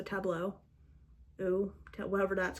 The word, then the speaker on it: Tableau: There's one that's called, I'm gonna pronounce it wrong, Tableau. I feel like it should rhyme with bureau because it has the EAU, so Tableau.